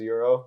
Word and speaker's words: Euro: Yeah, his name's Euro. It's like the currency.